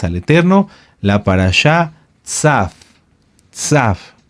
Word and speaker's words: Tzav: Tzaf. Tzaf se escribe T de Tito, Z de zorro, A de Alberto y V, o V de vaca, V, o V labiodental.